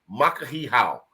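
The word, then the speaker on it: Makahiki Hou: k a h i ho o u somebody spell that out M A and that's makah he how makahi how happy New Year from the islands and then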